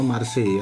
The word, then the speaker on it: Marseille: Bacanya Marseille ya.